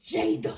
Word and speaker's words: Jada: My name is Jada.